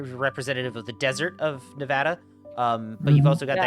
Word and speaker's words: Nevada: Uh, as I have discovered, it is actually pronounced Nevada. And I got to quit saying Nevada.